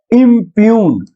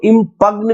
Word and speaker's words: impugn: इसको क्या पढ़ना है, इम्प्यून, इम्प्यून, इम्प्यून, जी साइलेंट है, ठीक है। आप चाहे तो इसको इम्पग्न भी पढ़ सकते हैं,